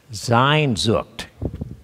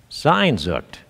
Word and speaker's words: Sehnsucht: Sehnsucht. Sehnsucht. And it's spelled S-C-H-N-S-U-C-H-T.